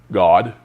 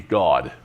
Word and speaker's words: Gad: God. It's pronounced with like G-A-W-G, God.